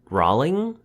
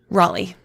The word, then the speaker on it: Raleigh: Nina yeah thirty years old she is from rowling Raleigh Raleigh like right into the Ashley the last syllable we actually you know like the spelling